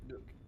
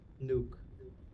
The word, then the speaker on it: Noek: So Nook. So Nook. Is it Nook you said? Nuke. Nuke. Okay. Yeah, it's closer to like the bomb than to whatever you were saying.